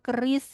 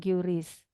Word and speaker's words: QRIS: Kalau Anda bahasanya QRIS, tapi yang betul sebetulnya bacanya keris gitu ya, bukan QRIS.